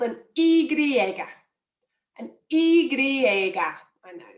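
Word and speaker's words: y griega: um is the the letter is called an igriega an igriega i know it's strange um but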